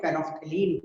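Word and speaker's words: phenolphthalein: Paraffin देखो बहुत बच्चा इसके नाम को प्रोनाउंस करने में दिक्कत करते हैं। एक्चुअली ये है फेनॉल, फेनॉल पैथिलीन, फेनॉल पैथिलीन, हम लोग इसको कंबाइन में फेनोफ्थलीन बोलते हैं, ठीक है ना।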